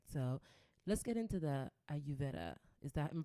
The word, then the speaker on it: Ayurveda: So let's get into the Ayurveda. Am I pronouncing that correctly? Yes, Ayurveda.